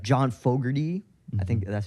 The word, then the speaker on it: Fogerty: Like John Fogerty, I think that's how you pronounce the name.